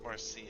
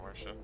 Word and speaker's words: Marcia: It's Marcia, not Marcia.